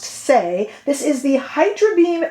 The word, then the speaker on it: Saie: the new concealer by the brand say s-a-i-e pronounced say this is the hydra